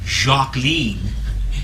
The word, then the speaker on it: Jacqueline: informed my family that her first name was not Jacqueline but Robert was Jacques lean Ethel was overheard to say and it rhymes with Queen but it was a member